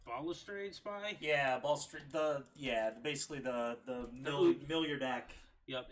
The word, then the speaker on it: Balustrade: So, what is that pronounced? Balustrade Spy? Yeah, Balustrade.